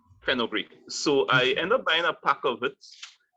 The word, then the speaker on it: Fenugreek: The Fenugreek, is that how you pronounce the name? Yeah, Fenugreek. Fenugreek.